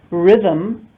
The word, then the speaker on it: rhythm: Rhythm, the H is silent.